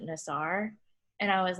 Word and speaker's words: Nassar: Larry Nasser pronounces it Nasser, right? Yeah. So then I was like, I think it's Nasser. I'm like pretty sure it's Nasser. Yeah. And then he's like, I don't know, I pronounce it Nassar.